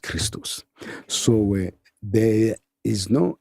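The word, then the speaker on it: Χριστός: XP act is XPto and is pronounced Christos.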